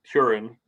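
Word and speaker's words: Hurin: cut out which was curing right which they in the in the book on the audiobook very much pronounced like urine yeah yeah and so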